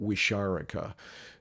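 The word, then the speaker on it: Wixárika: respectful name, is, and I think I'm pronouncing it fairly close to, I don't know if I got it exactly right. I pronounce it Wisharika, and they are elders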